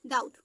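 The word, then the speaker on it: doubt: हो ठीक है तो यहां पे दी का डा हो गया ओ यू आर यू से यू फिर बी का तो बीच मसलेंट है तो बी का ता हो गया डाउट नेक्स्ट है आपका साइलेंट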